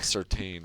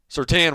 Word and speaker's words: Surtain: Yeah, it's Surtain. Come on! I used to call his dad Surtain, but I guess that's not the right way to say it.